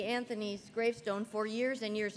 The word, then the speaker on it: Anthony: And how come you pronounce her name Anthony with a TH instead of Antony, the way it should be pronounced?